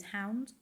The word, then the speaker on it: Hownd: I use Hound, which is HOWND, rather than spelled like normal hound.